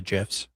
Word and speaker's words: GIF: It was very sus what he did with the gifs. Can you stop saying gifs? Um, I don't think you can stop saying Jif. That's how you say it, right? Like Jify Pop.